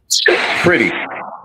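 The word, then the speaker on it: Pretti: Pretty. That's how it's pronounced.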